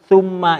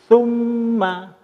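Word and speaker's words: ثُمَّ: Nah, kesimpulannya ada sedikit ini, bahwa pada saat summa ini huruf sa ini cara membacanya, jadi nanti bukan summa, tapi summa itu lidah kita di ujung gigi depan. Jadi summa, itu yang perlu diingatkan cara membacanya ini.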